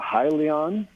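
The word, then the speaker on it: Hyllion: uh this is aries how do you pronounce this i call it highly on okay perfect h-y-l-l-i-o-n yep perfect okay we're going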